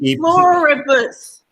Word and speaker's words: E pluribus: I'll say it. E pluribus. Yes, E pluribus is 4 syllables. You're exactly right.